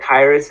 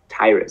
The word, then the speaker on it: Tyrus: It says Tyrus. Do I pronounce yes, that right? That's correct. Yeah, Tyrus is my name. It's kind of like Cyrus, but with a T. So it's Tyrus.